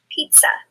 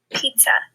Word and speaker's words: pizza: Pizza. Pizza. Do you hear the sound at the end? Pizza.